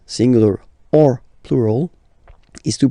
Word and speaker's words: eau: So you get words that will end with this a, u, combination of vowels, like for instance une o. So remember, when you get these vowels like that, then you get only the sound o.